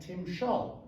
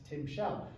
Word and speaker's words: Timshel: at it in context it should be pronounced it should be read Tim schul whereas Steinbeck interpreted this as Tim Shell and that vowel uh